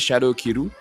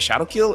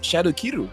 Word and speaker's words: Shadow Kiru: Not many people know that that's exactly how you pronounce the skill name, because I keep hearing people say Ogi Shadow Kill, and I don't know, people just try to westernize everything. It's Shadow Kiru, you know.